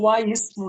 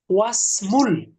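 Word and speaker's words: وَاسْمُ: ওয়া ইসমুল বিনতি জাইনাব জাইনাবি, জাইনাবু, এবার কিন্তু ওয়া ইসমু না, এই হামজাতুল ওয়াসলের কারণে মিলিয়ে উচ্চারণ করতে হবে ওয়াসমুল। ওয়াসমু, এই হামজাটার উচ্চারণটা থাকবে না।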